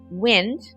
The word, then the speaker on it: wind: They're spelled the same, they sound different, and they are very different. Wind is a breeze. It's the air that you feel on your skin.